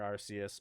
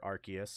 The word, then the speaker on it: Arceus: do some crazy adventure thing where you'll encounter arceus or arceus however you want to pronounce it and you'll be able to battle